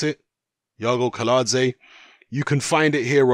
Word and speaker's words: Iago Kiladze: seen Joe Joyce's fight from the weekend against Yago kaladze is how you pronounce it Yago kaladze you can find it here on dailymotion it's